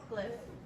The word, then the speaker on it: glyph: So sound it out. G-L-I. Need help? Imagine the Y as an I. And then the PH makes the F sound.